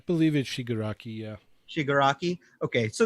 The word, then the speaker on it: Shigaraki: copied him but I picked up on Amazon Shigure aki is that how you say his name sugar aki cheney helped me out how do you say his name i believe it she good rakia shigaraki okay so it's the hand hand face guy